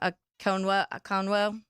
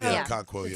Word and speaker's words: Okonkwo: I always forget how to say his name, Akonwo. Okonkwo, the tight end. Okonkwo, tight end.